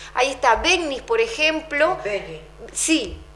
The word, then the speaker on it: Begnis: Begnis. Sí, porque se escribe GN y se pronuncia con ñ.